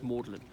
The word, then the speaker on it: Magdalen: Magdalene but in reference the colleges pronounce maudlin the thing is more de lijn ma UD li n also means exceeding sad